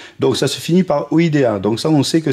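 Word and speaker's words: -idae: ça se finit par Ida donc ça on sait que c'est une super famille la famille c'est toujours idin id a e mais on prononce ID la sousfamille c'est iné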